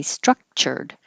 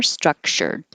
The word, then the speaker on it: structured: two syllables theorize structured and the cha can get more relaxed into a shock so you can say structured or structured either way principle principle and this